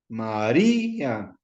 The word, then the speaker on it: María: Que si María lleva tilde, sí, en la I, María, es un diptongo. Y todos los diptongos se tienen que romper para convertirlos en hiatos. Entonces, María, acuérdense, siempre la sílaba débil es la que se acentúa cuando viene acompañada de